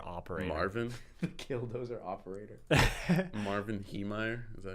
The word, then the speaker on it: Marvin Heemeyer: Marvin Heemeyer?